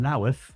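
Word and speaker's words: Louth: My first gig was in the Greyhound in Laath. You got to pronounce it like that apparently. Laith in Lincolnshire and it was a new act competition.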